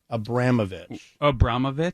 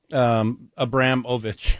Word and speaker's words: Abramovich: Abramovich? Yeah. You want to try to spell that for me? Abramovich. Oh, perfect. Like Abram, not Abraham, but Abram, O-V-I-C-H.